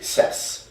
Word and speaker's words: CES: Yeah, but it's a soft C. CES.